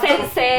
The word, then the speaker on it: sensei: Sebenarnya belakangnya ada i-nya, tapi kalau misalkan di Jepang itu huruf i itu kan di kayak matobi gitu loh dipanjangin sensei. Matobi itu.